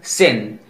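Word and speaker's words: scene: एस सी ई एन E, pronunciation सिन. एस सी आई ई एन सी ई, pronunciation साइंस. इन तीनों में देखिए एस के बाद सी आया है, इस कंडीशन में भी सी साइलेंट रहता है.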